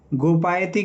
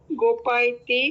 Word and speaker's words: गोपायति: गोपायती के रूप बताइए, धातु रूप। गोपायती, गोपायतः, गोपायन्ति, गोपासी, गोपाथः, गोपाथ। हाँ, देखिए उच्चारण सुधारिए। गोपायति, गोपायतः, गोपायन्ति, गोपायसी, गोपायथः, गोपामी, गोपायामी, या भी तो है।